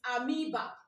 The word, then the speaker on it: amoeba: The right pronunciation is amoeba. But if I say amoeba, where is O? It shows that it's AMEBA that you are going to write down. But why not pronounce it what?